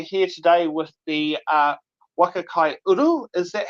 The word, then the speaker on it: Waka Kai Uru: But we're here today with the uh Waka Kai Uru.